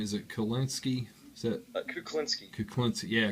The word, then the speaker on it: Kuklinski: Is it Kulinski? Is that Kuklinski. Kuklinski? Yeah, Kuklin. Yeah, Kuklinski.